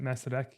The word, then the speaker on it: Masaryk: Is it that how you pronounce it? Masaryk University. Masaryk Uh, University, yeah.